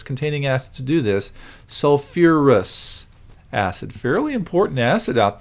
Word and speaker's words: sulfurous: sulfite so its acid form is not sulfis remember it adds that extra syllable sulfur and phosphorus containing acids to do this sulfurus acid fairly important acid